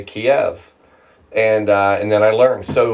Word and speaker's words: Kyiv: But Kiev is the closer pronunciation versus Kiev, which is the Russian, which obviously nobody wants to share that anymore. So now you know how to say Kiev.